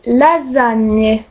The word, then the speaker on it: lasagne: E se prononce toujours et il n'est jamais muet. Donc par exemple dans lasagne, là ça se dit lasagne.